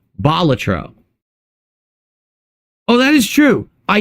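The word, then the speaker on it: Balatro: as for it's not so it's not batro it's batro the emphasis lies on the first syllable because batro was a professional Jester in ancient Rome hence the name so it's batro oh that is true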